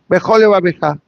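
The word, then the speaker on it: Bechol levavecha: But if I say Bechol levabecha, I double dip with one lamed. I use the sound of the lamed for the word Bechol and the same sound of the lamed for the word Levabecha.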